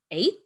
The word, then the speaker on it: eighth: Earlier on in the term, we did cover this spelling rule where you see E-I-G-H and you pronounce it as A. So it's eight and eighth.